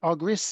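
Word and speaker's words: Argyris: know all things are coming I could ever pronounce Chris's surname agris is it that's right and it's double Loop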